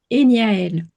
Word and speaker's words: Eniaël: je vois que ton nom de sirène, c'est Enial. Je dois très mal prononcer, mais tu peux nous dire comment on prononce ton nom de sirène? Alors, mon nom, c'est Eniaël. Ok.